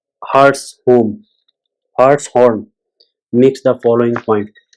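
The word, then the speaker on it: Hartshorne: Process thinkers Charles Harshun (1897 to 2000) pronounced Hartshorn Hartshorn makes the following point: the traditional objection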